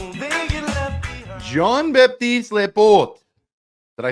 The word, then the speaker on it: Jean-Baptiste Laporte: say your name you will be Jean batist laort you have to work on your RS you have to roll your RS we are joined joined